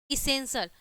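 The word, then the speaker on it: essential: अब देखिए कैसे, अब यहाँ पे देखिए कि टी के यहाँ पे क्या है, टी, ठीक है, इसेंशियल, ठीक है, इसेंशियल में क्या है, टी के बाद क्या है, आई ए आया है ना, ठीक है।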